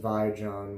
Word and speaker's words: Vijon: I remember it being pronounced Vijon when that was it was a big company here in the States for a while.